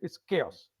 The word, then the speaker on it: chaos: Easiest way is H is silent. okay. Okay, if H is silent, it's chaos.